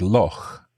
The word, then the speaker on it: loch: So loch is a kind of unusual word in English because this sound, this CH that you make in your throat, this doesn't exist elsewhere in English.